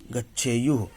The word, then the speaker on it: गच्छेयुः: थू नहीं, य है, य। गच्छेयुः।